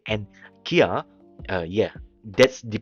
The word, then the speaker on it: Kia: It says that Hyundai and Kia, yeah, that's the pronunciation anyways.